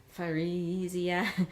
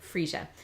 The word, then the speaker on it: freesia: If we were to try and sound this one out, giving every single letter a different sound, we'd end up with Frisia, which isn't anything like freesia.